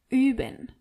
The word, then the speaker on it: üben: Wir üben. Ihr übt. And sie üben. As you can see and hear, you really have to be careful how you pronounce O-Umlaut. Üben.